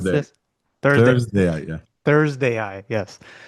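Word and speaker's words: ThursdAI: How do I pronounce Thursday. this? Thursday Thursday, yeah. Thursday AI.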